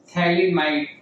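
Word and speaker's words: फ़्थैलिमाइड: है तो इसका नाम पीए अगेन साइलेंट है। इसे बोलना है स्टूडेंट्स आपको थैलीमाइड।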